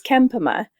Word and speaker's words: Kempema: trouble pronouncing your last name so could you pronounce it for me you know it's Ken Puma but but wait I had trouble to it